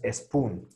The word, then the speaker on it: spoon: Entonces, esta E no existe. No es spoon. Es directamente a la S.